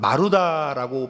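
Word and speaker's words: 丸太: 놈들이라고 부르는 것이 자연스러워졌습니다 마루타는 마루다라고 발음하는 것이 맞을 것이고 통나무다 그런 뜻이에요 일본이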